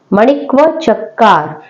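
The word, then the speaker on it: माणिक्कवाचकर: इसका प्रोनाउंसिएशन करना भी थोड़ा सा टिपिकल हो सकता है, मणिक्व चक्कार, ये इनके नाम का प्रोनाउंसिएशन है जिसको आप लोग याद कर सकते हैं।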